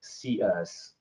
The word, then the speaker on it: Coeus: We're very very excited to uh be here today talking about Stinyl Cus uh pronounced as like Cus.